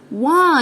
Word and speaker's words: why: الW تقول لي الاتش سكوتي فمش هننطق الاتش ساوند. why ليه يا ماما؟